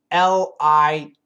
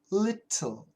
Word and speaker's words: little: So let's look at the word L-I-T-T-L-E. Okay? Little. Little is perfect pronunciation. And the British people love to keep that T sound. Little, little. So the British people say little. Okay? And Americans use a flap T.